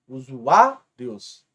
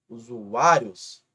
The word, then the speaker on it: usuários: Qual é a sílaba mais forte desta palavra? Esse A. Usuários. Se esse A é a penúltima. Portanto, aqui temos uma paroxítona terminada em ditongo. Usuários.